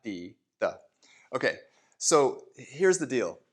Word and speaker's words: 的: This is the character, and it's pronounced de, not de.